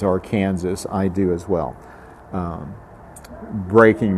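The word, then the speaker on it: Arkansas: the riverbed of the ark river and of course since i was reading his piece since calvin would have pronounced the river as our kansas i do as well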